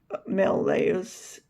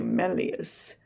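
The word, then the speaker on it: malleus: And um these particular bones the the organs um that are collectively known as oicles um and separately maleos incas and stapes actually melus I'm sorry to mispronounce it.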